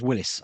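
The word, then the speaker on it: Willys: It's spelt Willis, but it's pronounced Willis.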